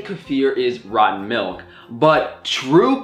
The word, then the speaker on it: kefir: most you guys know I say kefir kefir but I found out that kefir is the right way to say it and it's something that